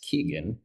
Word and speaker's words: Kigen: Keep quiet, Keegan.